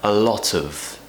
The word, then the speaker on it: a lot of: as it's true form it's being relaxed it's what we call a weak form because the word of is not very important in this sentence a lot of now you might hear